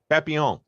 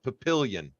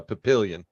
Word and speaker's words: Papillion: town next to Omaha that's French for butterfly Papillon yeah yeah but there they call it Papillion yes so it's kind of the same thing you know instead of instead of Papillon it's uh Papillion 100 um and in